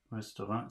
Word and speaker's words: Restaurant: Restaurant. So that's the second syllable. So that's like cafe. A.